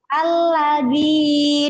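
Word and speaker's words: الذي: Al-ladzi, dia kan ada coret panjangnya. Makanya ya tadi bacanya panjang 2 2 ayunan.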